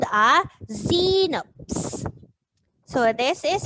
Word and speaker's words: xenops: we put it okay this is c notes and it has the x sound in the beginning and this frog this